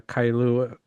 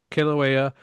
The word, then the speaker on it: Kilauea: always, if you look into this volcano, the Kailua, I hope I'm saying it correctly. If I'm not, I Kilauea. apologize. Kilauea volcano, like I say, you could always see